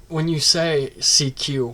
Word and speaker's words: CQ: And when you say CQ, what does it sound like? It sounds like the word seek and you. So CQ.